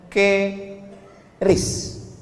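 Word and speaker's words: QRIS: Sekarang di pintu-pintu masjid, di pintu-pintu mall ditulis ada namanya ke ris. Kis. Cara bacanya gimana sebetulnya? Keris. Q-nya quick. Quick artinya cepat.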